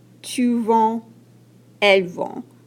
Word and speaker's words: vends: Et la prononciation, je vends, tu vends, elle vend. On ne prononce pas les D.